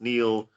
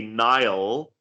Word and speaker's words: Niall: name pronounced as n obviously it's pronounced Neil um and you said let me just say Nile because that at least